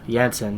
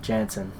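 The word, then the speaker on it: Jansen: it's floor and gals its Jetson not Jensen you know because it's she's from Netherlands since the your it says she is European so there's no J is silent floor handsome well yeah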